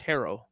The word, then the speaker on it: Herro: things Tyler herro herro it's pronounced herro like your hair isn't that weird 22